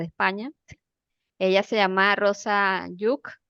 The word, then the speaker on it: Lluch: Ella se llama Rosa yuk e se escribe l l u c h pero se pronuncia como yuk o parecido muy bien y te